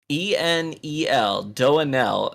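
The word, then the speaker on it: doaenel: it's like doing l it's like do an l i think it's how you pronounce the the person's the streamer's name it's like d-o-a-e-n-e-l do an l and they're like too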